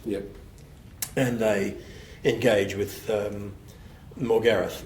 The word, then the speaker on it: Morgarath: And they engage with Morgareth, or as I've had to become used to calling him, Morgarath. In Europe they call him Morgarath, and in America the same. We have this thing of putting the emphasis on the first syllable, but Morgarath.